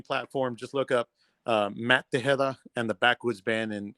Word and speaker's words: Tejeda: much any streaming platform just look up Matt De hea and the Backwoods band and and my last name is spelled t EJ e d it's a weird